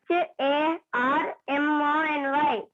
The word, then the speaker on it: harmony: HARMONY. What is the word? Harmony. No, should not pronounce the letter R. R sound should be very less. Harmony, not harmony.